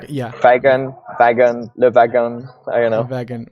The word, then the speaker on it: Le Wagon: code at a co-working space called Beta I, doing a development course called, how do you pronounce it Good. in French? Le Wagon. Le Wagon.